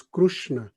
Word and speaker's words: Krishna: Another question is, some say we should chant Krishna, and some, usually in India, say it is not Krishna, it is Krushna.